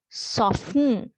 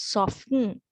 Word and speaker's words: soften: here when we read we do not pronounce the t right so that is why we call it as silent t right so as an example mortgage soften right so t you